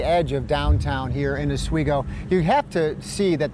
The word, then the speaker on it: Oswego: asigo river meets Lake Ontario now asigo is pronounced asigo although some locals tend to call it sgo right something like that that that's a that's